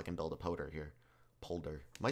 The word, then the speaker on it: polder: build a poder here polder am i saying that i keep saying poder i think polder i think is correct pol polder with an l oh my god polder